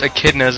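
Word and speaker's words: echidna: didn't even uh I didn't realize they were pronounced a kidas until this game I thought they always ET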